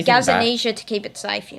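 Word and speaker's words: Gazzaniga: By the way, guys, tell us how to pronounce that cuz I I'm actually not sure on the It's Gazaniga. I'm not joking. That's the goalie's name. Okay. I just say Gazania to keep it safe.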